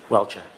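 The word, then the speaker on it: Welcher: How do you pronounce his name, Mr. Brennan? Welchure.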